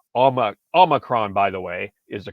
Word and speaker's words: Omicron: Hope I pronounced that correctly. And it's Omicron.